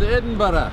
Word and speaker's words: Edinburgh: Welcome to Edinburgh. That's the proper way to pronounce it. Don't let anybody tell you different. Whoa, no. It's Edinburgh. You pronounce it Edinburgh.